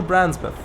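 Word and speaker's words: Brancepeth: Oh, Branspeth. So the first E is silent, you think. I see. Well, maybe you're right.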